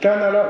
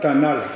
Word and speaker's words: Tanala: On dit Tanala ou Tanal? On dit Tanal. L'accent tonique est sur la première voyelle, première syllabe.